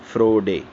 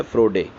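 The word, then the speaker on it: Froehde: तो हो सकता है कि इसमें H साइलेंट हो और इसको बोलते हैं फ्रोड। तो इसकी जो प्रोनाउंसिएशन है वो आपको जो आसान लगती है आप कह सकते हैं इसको।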